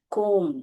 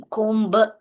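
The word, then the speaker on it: comb: यह बी जो है साइलेंट है। कोम। कुंभ ऐसे नहीं बोलना चाहिए। ये बी जो है यहां पर साइलेंट है।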